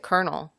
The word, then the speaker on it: colonel: I don't know why do we say it kernel am art like is that a dialect thing